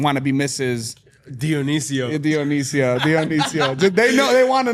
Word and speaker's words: Dionicio: Dionicio.